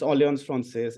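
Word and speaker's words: Alliance française: that how you say it yes yes it's oon fres it's a l l a i a n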